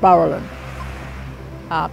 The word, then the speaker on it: Barrulin: streets around town and linguistically we would pronounce it Berlin shortened it means big stone you've got all those